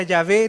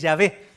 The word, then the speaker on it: Yahvé: Y nosotros no conocemos cuáles eran las vocales porque el nombre estaba prohibido pronunciarlo. Entonces se perdió. Entonces probablemente la traducción más cercana que tenemos es la traducción que se le hace al griego, que es Yahvé.